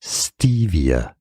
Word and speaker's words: Stevia: sound or a sound stress on the first syllable three syllables overall stress on the Ste Stevia it's easy Stevia